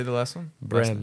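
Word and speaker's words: Brehm: Bram.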